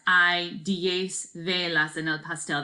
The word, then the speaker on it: hay: So the word I right here, H is silent in Spanish. It's not hey or hi, right? The word I means there is or there are. So you could say like, hay 10 velas en el pastel.